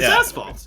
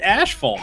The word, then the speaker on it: asphalt: floating out to se asphalt it's asphalt yeah who the where do you get ashal from I don't know where